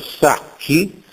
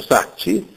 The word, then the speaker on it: sacci: scorrettezze in sillaba finale c e g in latino avevano ancora carattere velare anche se seguiti da e o i per esempio prendiamo latino scritto sacchi Sacchi Ecco che a scuola si pronuncia Sacci l'italiano sacchi attesta che